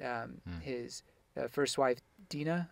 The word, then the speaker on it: Dina: his uh first wife dina is that her name uh dino or dinah i think i think the anime pronounced it dinah but gotcha dinah uh